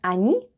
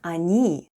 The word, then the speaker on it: они: The first letter is O and it's unstressed and it's pronounced as A, then goes N and I. And altogether it's они.